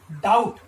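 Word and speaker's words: doubt: Here is a word, यहां पर एक शब्द है डाउट, डी ओ यू बी T, having letter B silent, यहां पर जो बी वर्ण है वो कैसा है, साइलेंट है, मूक है।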